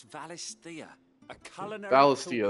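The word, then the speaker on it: Valisthea: Valistia, that's how it's pronounced. I call it Ballistia.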